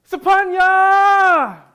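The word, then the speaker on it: Sophornya: The PH in my name is pronounced more like a P than an F sound. That H was probably placed there to document this breath, this exhale, this sigh, this burning smoke turning into relief. There's a lot of other Cambos with the same S-O-P-H prefix, like my dad's Sapun, S-O-P-H-O-N, my ex P, her cousin Sapani, S-O-P-H-A-N-N-Y, and my bestie Sapik, S-O-P-H-E-A-K. My name is pronounced Sapanya!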